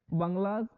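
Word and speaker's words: bungalow: coffee state and colonial बंगला stand टड under tree canopy in prime corner कहा बच्चों की coffee state इसको coffee state बोला जाता है एंड कॉलोनियल बंगला य जो बंगलो होता है बंगला के स्पेलिंग देख ली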